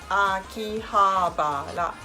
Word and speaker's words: Akihabara: need to say the ol letter same peach Akihabara Akihabara Janaki it's nothing it's not a key key